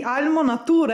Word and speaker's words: Almo Nature: piccola oggi abbiamo sempre almo nature mi avete detto che un brand italiana si pronuncia all'italiana quindi almo nature essere beh penso peccato